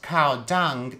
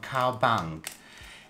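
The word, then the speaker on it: Cao Bằng: It's not Cao Dung, Vietnam, it's Cao Bang. If you look it up, there's no Cao Dung. I think this is a misspelling of Cao Bang. And I checked Vietnamese pronunciation, so it should be Cao Bang, even though it's spelled with a C.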